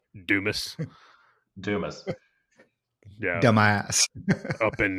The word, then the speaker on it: Dumas: Dumas. Dumis. Dumis.